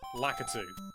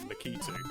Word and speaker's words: Lakitu: He's called Lakitu, or as everyone else in the world pronounces it, Lakitu, but I refuse. Because I've always known him as Lakitu and I'm not saying anything else. I think it might be a British thing. I say Lakitu as well.